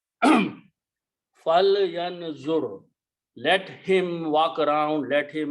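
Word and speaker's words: فَلْيَنظُرْ: So when you read these together, this is pronounced as a fal, not fala. Fal yanzur.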